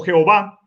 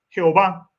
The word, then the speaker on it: Jehová: jehova jehova o Jehová Bueno aquí me confundo leyéndolo como y pero realmente es la y consonante se lee es como una J sí se le es o Jehová Jehová y entonces queda en